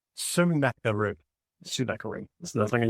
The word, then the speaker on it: Sennacherib: So I looked up how to say it, so I'm going to say it correctly. It is Sennacherib. Sennacherib.